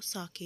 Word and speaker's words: sake: जो प्रोनाउंसिएशन है वो साके है, जो कि जैपनीज़ अल्कोहलिक ड्रिंक है। तो आपकी मर्ज़ी है, इसको आप साके या फाके प्रोनाउंस कर सकते हो, बट मैं यहाँ पे साके ही प्रोनाउंस करूँगी।